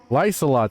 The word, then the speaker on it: Lysolot: seen a Lysolot use magic before, Lysolot, that's how you say it.